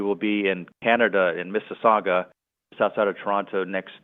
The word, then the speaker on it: Mississauga: Yeah, and I give you points for pronouncing Mississauga right.